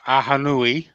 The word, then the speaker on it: Ahonui: pretty confident now that I know how to pronounce aanu um but I'm still struggling with something uh